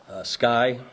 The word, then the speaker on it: SCCY: I guess it's pronounced Sky, SCCY.